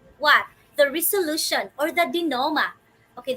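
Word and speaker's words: dénouement: the resolution or the dinoma okay this is how you pronounce this word dear wonders dino not denounment or denominate okay so this actually element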